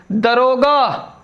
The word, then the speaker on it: दारोगा: दरोगा ये गलत है, दारोगा लिखा जाता है और उच्चारण भी इसका ऐसे ही होना चाहिए, दारोगा।